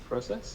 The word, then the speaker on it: process: it's the second syllable it should be the first so process not process process process the force is on the first setup okay what about this